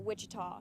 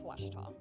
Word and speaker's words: Ouachita: University back in Texas everybody pronounces it Wichita but really it's Ouachita Washington how would you pronounce it Ouachita it's Ouachita Baptist University